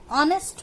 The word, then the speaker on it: honest: Like if you see these two examples, an honest man, we don't say honest. So pronunciation of H is silent here.